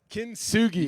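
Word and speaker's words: kintsugi: put it into the vase and it's called kin suji yeah yeah exactly how' you pronounce it kin sui yeah there you go so this is a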